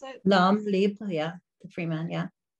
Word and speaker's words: L'homme libre: It's called Léon Libre. Is that how you pronounce it? L'homme libre, yeah.